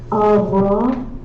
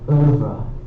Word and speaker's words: oeuvre: Ouvra, avra, and oeuvre. Oeuvre.